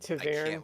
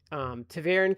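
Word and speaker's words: ta'veren: I can't Taverin. with the pronunciations. But what is it? What The Taverin. Taverin? Is that what you're- Taviran?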